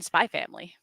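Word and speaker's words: Spy × Family: also happens a lot you never pronounce the X you never pronounce it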